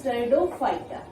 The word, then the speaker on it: Pteridophyta: And third one is Pteridophyta. P is silent, that is Pteridophyta.